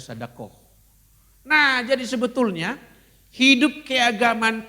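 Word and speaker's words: صدقة: Orang Arabnya sedakoh. Sadakoh gitu ya. Sedekah nulisnya tapi bacanya sedakoh.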